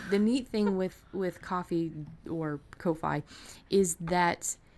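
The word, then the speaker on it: Ko-fi: been from Holly so that is coffee and it sounds like the drink but it spelled different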